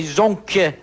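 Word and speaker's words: zonques: french mongrel you know it's spelled z-o-n-q-u-es this mongrel is called a zonk but you have not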